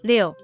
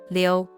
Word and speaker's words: 六: It is pronounced as 六.